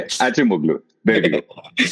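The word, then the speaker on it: Acemoğlu: I'm going to try and say Achimoglu.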